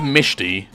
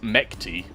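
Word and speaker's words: Mechty: Or if you try to say it how it's spelt, Mekti. But the pronunciation for what I heard is Mishti.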